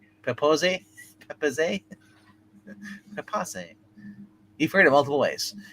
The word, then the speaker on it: Pepose: Okay, I always read it as David Propose. It's Pepos. That's how it's pronounced. Propose? Pepose.